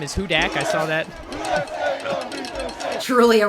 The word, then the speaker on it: Hudak: i read the bio and it says it's pronounced hudak and i thought it meant that she was